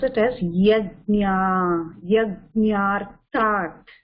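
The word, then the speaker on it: yajñārthāt: Okay, try to pronounce it as yajñā, yajñārtat.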